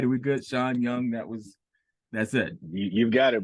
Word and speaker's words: Shaun Young: Shaun Young, that's it.